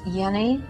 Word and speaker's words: Jenny: all right good the the name is actually Hans Yenni and I was close